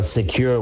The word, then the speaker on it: Sekur: in today's world tell us why great well secure which is spelled s-e-k-u-r is our email and messaging application